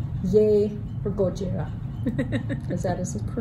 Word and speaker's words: Gojira: I mean, it's yay for Gojira. Is that correct pronunciation? Gojira.